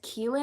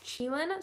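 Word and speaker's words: qilin: i pronounce it right i pronounced it as keelan in the video because that's what google said it was pronounced as but uh one of you guys corrected me and said it's chillin so i'm gonna pronounce it properly moving forward um what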